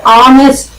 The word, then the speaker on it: honest: Here you see, an honest man, this H is silent, we pronounce it honest, honest man.